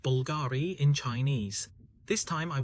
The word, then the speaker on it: Bulgari: Actually, the reason is that in ancient Rome, there were some Latin characters, and the English letter U was only V.